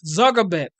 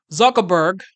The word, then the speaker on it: Zuckerberg: Reform movement even Mark zabek Mark Zuckerberg that's how you pronounce his name Mark Zuckerberg he is